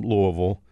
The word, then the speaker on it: Louisville: it is Louisville and the way you say it if you're from Louisville is to collapse it all into one melted syllable Louisville so Louisville and so